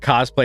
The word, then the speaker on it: cosplay: on that hill that cosplay is pronounced cos play yeah he'll die i mean phonetically that's how it should be pronounced um i was a